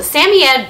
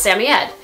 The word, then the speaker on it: Samoyed: Some of the ways of pronouncing their name, Samoyed. Samoyed, which is how I pronounce the name. Samoyed, Samoyed, Samoyed, Samoyed.